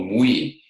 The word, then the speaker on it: MWE: That is, there's a word I use called mui. You know, there's the me in the body, there's the we in our connection, and identity can have this integrated quality of a mui. And it's spelled MWE.